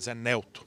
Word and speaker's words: Nelto: disse o deputado josé nelto foi o primeiro nelto usar pronúncia correta líder do podemos foi o primeiro